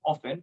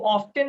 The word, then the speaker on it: often: इसको ऑफ्टन नहीं पढ़ना। हाँ, कुछ लोग पढ़ते हैं ऑफ्टन, राइट, लेकिन सही प्रोनाउंसिएशन ऑफन, राइट, ऑफन। ऐसा नहीं कह सकते हैं कि ऑफ्टन गलत है। कुछ फैकल्टी, कुछ जगह पे कम्युनिकेशंस में यही बताया जाता है, नो नो नो नो नो, ऑफ्टन is wrong. No, ऑफ्टन not wrong, ऑफ्टन is right, right?